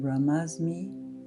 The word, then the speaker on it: Brahmasmi: the meditation, you can use the mantra Aham Brahmasmi, It's spelled aham, A-H-A-M, aham, and Brahmasmi, B-R-A-H-M-A-S-M-I, aham Brahmasmi.